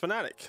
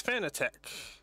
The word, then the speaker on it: Fanatec: I was talking about earlier, apparently it's supposed to be pronounced Fanatec. Like, I'm a fanatic of this team. But the first way I heard it was Fanatec.